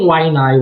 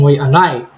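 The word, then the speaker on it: Waiʻanae: Very important for new learners to learn pronunciation so that they're not saying wainai when they're speaking Hawaiian. They're saying waianai.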